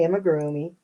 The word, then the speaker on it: amigurumi: And I have my amigurumi or amigurumi, however you want to pronounce it. I say amigurumi.